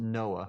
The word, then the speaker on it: NOAA: For example, when I was with the National Oceanic and Atmospheric Administration, we pronounced it NOAA.